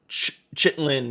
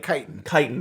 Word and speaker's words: chitin: horn into making armor as well or uh chitlin and other like chitin thank you uh going back to pronouncing things correctly uh but one of the